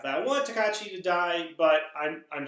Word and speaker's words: Tokatti: start first of all I have been pronouncing his name wrong this entire time is tekachi I will do a